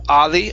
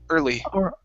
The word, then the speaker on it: early: and your last one is the word early instead of ali ah curve your tongue up for that r er early okay early early okay